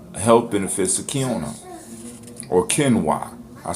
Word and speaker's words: quinoa: here are 11 health benefits of camera or Ken why I said hey it's Tina it looked like